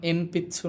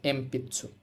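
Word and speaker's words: えんぴつ: pencil এখানেও দেখেন ন এর পরে পি আছে মানে পা লাইনের বর্ণ আছে এজন্য এম পিচ্চু না হয়ে এটা কিন্তু হবে এম পিছু কেমন তারপরে লেখা আছে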